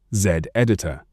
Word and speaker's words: Zditor: Open Z editor, pronounced Z editor.